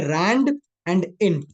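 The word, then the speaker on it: randint: का नाम सुना है इसको लोग बहुत ज्यादा गंदा पढ़ देते हैं बट इट्स एक्चुअल में रंड एंड इन इसमें अगर आपने स्पेलिंग गड़बड़ पढ़ ली तो गड़बड़ हो जाएगी इट्स it's actually stands for रैंडम इंटी जर रैंडम इंटी जर लड़के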